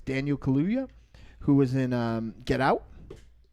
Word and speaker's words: Daniel Kaluuya: And you guys haven't seen this yet, but I always say this guy's name wrong too, but it's Daniel Kaluuya, who was in Get Out.